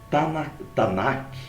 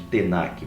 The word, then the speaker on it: Tanakh: Como é que é chamado Tanakh, ou em alguns outros lugares é chamado de Tenakh, mas normalmente é assim que se escreve.